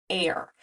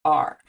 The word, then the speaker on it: are: So if we said this word the way we'd expect it to sound, we'd say air, but that's not how we say it. We say the word are. So in this word, the silent E at the end is not actually doing anything at all.